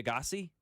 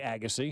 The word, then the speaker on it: Agassi: and so you can tell me if I'm pronouncing these names wrong. Bob, Dusty, Andre Agassi, it would be Andre Agassi. Agassi.